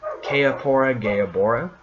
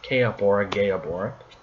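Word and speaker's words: Kaepora Gaebora: the earth temple gel holla then we have que ahora gayab hora que up or gayab hora because I didn't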